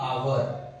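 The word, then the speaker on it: hour: तो यहां पे देखिए आवर तो आवर में एच है लेकिन ये साइलेंट है। ओ से पढ़ेंगे हम इसे आवर तो यहां पे भी क्या लगेगा?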